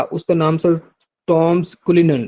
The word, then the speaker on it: Cullinan: तो दुनिया का सबसे बड़ा डायमंड जो है जिसको कुलिनन डायमंड बोलते हैं, वो भी साउथ अफ्रीका से ही दरियाफ्त हुआ था। वो पूछ रहा था कुलिनन डायमंड, स्पेलिंग आप इसके नोट कर लें, CULLINAN, कुलिनन डायमंड, ठीक है।